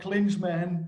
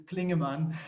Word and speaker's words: Klingemann: have to correct you it's not claims man it's Klingon man I bet I got